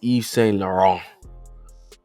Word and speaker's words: Yves Saint Laurent: Yves Saint Laurent. Yves Saint Laurent. You really don't you pronounce the T. It's Yves Saint Laurent. Yves Saint Laurent.